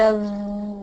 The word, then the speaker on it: of: women so I mean the connection between f and W it's not an F it's a v so the word of and everybody needs to know the word of the spelling is an F but the pronunciation is a v so